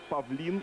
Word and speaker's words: Павлин: десятый Златко Захович, одиннадцатый Миран Павлин, именно так с ударением на последний слог произносится фамилия этого полузащитника, и тринадцатый номер Младен Рудонья.